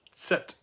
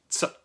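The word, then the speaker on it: Zett: this letter Z, and it's pronounced like a plosive, like a Z, like a TS sound if you put T and S together and you add a little puff of air, so it's a plosive sound.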